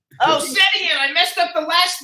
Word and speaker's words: Setian: And his last name is pronounced Setian. Oh, Setian.